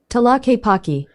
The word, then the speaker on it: Tlaquepaque: guess it's a different town, and it is pronounced Tlaquepaque.